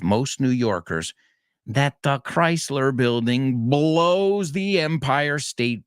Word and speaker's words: Chrysler: an art deco skyscraper remember not chryler it's named after the car company Chrysler and it's an art